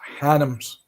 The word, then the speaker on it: Hannams: It's spelled H-A-N, like hams. It's spelled like but it's pronounced Hannams.